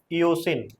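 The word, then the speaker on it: eosin: pink solution में इसको क्या बोलते हैं कैसे प्रोनाउंस करोगे इसको हम इयोसिन okay इयोसिन इयोसिन solution okay इयोसिन solution मतलब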